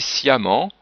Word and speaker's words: sciemment: du M, et ici sciemment. Doublement du M et prononciation A.